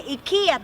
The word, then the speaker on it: IKEA: In the town called Älmhult is the Ikea town.